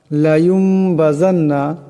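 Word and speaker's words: لَيُنبَذَنَّ: লায়ুমবাযান্না, এখানে দেখেন নুন সাকিন, নুন সাকিনের পর বা আসছে, গতিকে এই নুন সাকিনকে মিম দিয়া বদলায় পড়তে হবে। এটাকে কলব বলা হয়। এরপর জাল আসছে, জালের উচ্চারণটা নরম করিয়া করতে হবে। এরপর আসছে নুন মুসাদ্দাদ, নুন মুসাদ্দাদকে একালে পরিমাণ গুণনা করিয়া পড়তে হবে।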